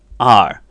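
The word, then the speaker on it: 二: your accounting in Chinese you will just say our so for example e our San one two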